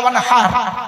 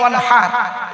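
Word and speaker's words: وانحر: High হুতি, ওয়ানহার নয়, high হাওয়াজ নয়, high হুতি। এই গলার ভেতর থেকে এটা উচ্চারণ করবেন, ফাসাল্লি লিরাব্বিকা ওয়ানহার।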